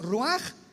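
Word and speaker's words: רוח: Por eso el Espíritu Santo se pronuncia Raj. Se escribe roach ch roaj el kadosh. Entonces la h se pronuncia como J.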